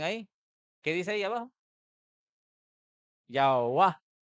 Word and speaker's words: Yahweh: Yahweh. Y así las traducciones y el lenguaje fue cambiando y la pronunciación a tal punto que en algunas Biblias dice Yahvé, en otras Biblias dice Yahweh, Jehová.